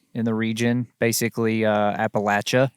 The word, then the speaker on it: Appalachia: the region basically uh Appalachia yeah which is that's how you say it by the way Appalachia any other pronunciation of it is not correct um we we're not